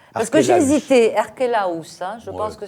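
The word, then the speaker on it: Archélaüs: se réveille, oui, il n'a pas été crucifié, lui, dépose Archélos. On prononce comme ça, Richard? Parce que j'ai Archélaus. hésité, Archélaus, hein, je Ouais.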